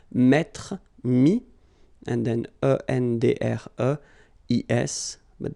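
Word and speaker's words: mis: Mi, same thing here, final s is not pronounced.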